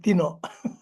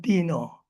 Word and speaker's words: Tino: I don't know how other people pronounce this, but in Bisaya, we call yung mga Tino, we call it Tino rather than Tino.